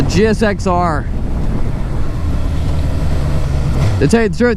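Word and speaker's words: GSX-R: I don't know why everyone wants to call it a Gixxer. It's not even phonetically how it would be pronounced. It's a GSXR.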